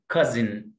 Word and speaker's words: cousin: بيرنتس الكلمه ديت الاو هنا سايلنت، cousin والاس جايه بين تو فاولز، وعندنا قاعده بتقول when the letter s comes between two vowels we pronounce the letter s z، لما حرف الاس يجي من حرفين متحركين انطقوا كده ز، تبقى اسمها cousin، cousin،